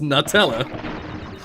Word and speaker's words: Nutella: English the English pronunciation is nut. Yeah, So it is English Nutella. pronunciation is nuts. And so in English, it is pronounced Nutella.